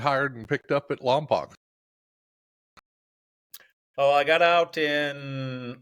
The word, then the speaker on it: Lompoc: okay, Is it Lompoc or is it Lompoc? the locals pronounce it Lompoc.